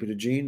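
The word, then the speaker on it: DeJean: Mitchell brought in Cooper deene H yeah hup jeene is that's how you pronounce it Jeremiah tro Jr came in love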